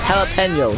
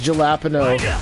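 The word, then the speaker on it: jalapeño: actually saying haa and remember it's jalapeno not jalapeno I once worked uh at a food stand and this guy pronounced jalapeno as galapo that's not how you pronounce jalapeno and someone pronounced cookie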